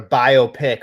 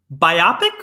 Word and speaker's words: biopic: I thought this whole topic was going to be about a biopic on Metallica and or Mariano Rivera. Biopic or biopic? Well, some people put the emphasis on the wrong syllable.